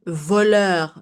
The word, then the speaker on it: voleur: Voleur means thief. Okay? So the R is pronounced normally.